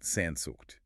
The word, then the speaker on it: Sehnsucht: It's pronounced Sehnsucht.